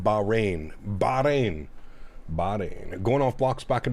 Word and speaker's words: Bahrain: It's pronounced Bahrain.